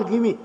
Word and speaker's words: Gimi: बहुत बार कहते थे मेरी स्पेलिंग जो है उसके कारण लोगों को गलतफहमी होती है। मेरा नाम है GIMI और वो लोग जो हैं उसको पढ़ते हैं और वो कहते हैं ।